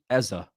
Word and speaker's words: Eze: Eza is how you say ezer.